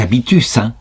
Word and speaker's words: habitus: J'en suis rendu à la question 53 de la Prima Secundae, donc toujours dans le traité des vertus, des habitus, en latin ça se prononce comme cela, et donc elle s'intitule « La diminution et la destruction des habitus ».